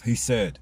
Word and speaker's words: Hesed: Fourth, Hesed, H-E-S-E-D, meaning mercy.